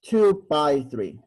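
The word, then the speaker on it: 2×3: Now, it's not 6, okay? It's not 2 times 3. This one is pronounced as 2 by 3. Okay, and again, 2 by 3 is not 6. It's just 2 by 3.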